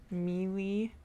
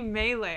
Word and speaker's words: melee: case yeah and then to the baron pit mealy no it's actually melee i googled this because i always pronounced it as uh what should i call it malay and that's that's the language in malaysia and